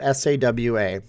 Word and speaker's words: Sawa: a vegas-born company so that's pretty cool actually sowa or salwa it's spelled s-a-w-a sawa or sawasushi steven have you tried any